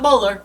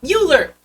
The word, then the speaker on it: Mueller: that person but he it Mueller not Muller Mueller but you know tomato